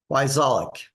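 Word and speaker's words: Wyczalek: Every other letter is silent. So it's W-Y, C as in cat, Z as in zebra, A-L-E-K, Wyzolek. Sounds just like it's spelled.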